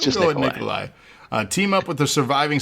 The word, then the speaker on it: Nikolai: It's just Nikolai.